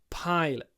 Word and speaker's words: pilot: so often the case the stress in English is on a different syllable pilot pilot and the at the